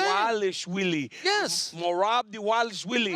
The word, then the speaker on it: Dvalishvili: Dwa Okay. Lish Yeah. Willie. That's what I'm saying. Dvalishvili. We're saying the same thing. Dvalishvili.